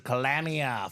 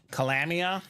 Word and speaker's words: Calamia: How do you say his last name? Calamia. Calamia. Okay. Calamia. I always say, holy calamity.